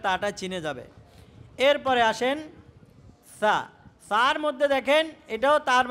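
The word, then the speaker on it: ث: এখন এই সাটাও পাতলাই উচ্চারণ হয়, তবে এটার উচ্চারণের মধ্যে কিছু কৌশল দেখাই দিতে হয়, আর না হয় ভুল হয়ে যায়। কিভাবে? বাচ্চাদেরকে বলবে যে তোমরা জিহ্বা বাইর করো, জিহ্বার আগাটা দাঁতের আগার সাথে লাগাও, জিহ্বার আগা সামনে দাঁতের আগার সাথে লাগাও, এরপরে একদম নরম করে উচ্চারণ করো। সা এভাবে শক্ত আওয়াজ হইতে পারবে না, ঠিক আছে? সা বলে কি হইতে পারবে না? আওয়াজ শক্ত হইতে পারবে না।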